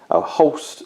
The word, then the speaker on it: Holst: The Warlord is, of course, Captain Gregor Hoist. Holst is the pronunciation there for him.